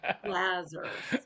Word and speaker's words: Laser: He's a big jazz pianist, and so I said, Jazzer rhymes with Jazzer, Lazar.